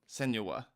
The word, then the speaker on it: Senua: Senua.